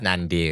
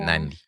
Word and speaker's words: Nandi: It's Nandi in the tiny. Nandi. Not Nandi or anything like that. Nandi.